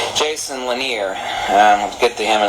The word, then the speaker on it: Lanier: is definitely the way to go like Jason laner I'll get to him in a second in